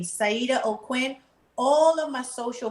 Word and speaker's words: Saajida: And if you want to follow me on my Facebook page, you go to Empress Saajida O'Quinn.